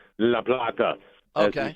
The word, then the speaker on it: La Plata: And Rich would correct you and give you proper pronunciation, La Plata.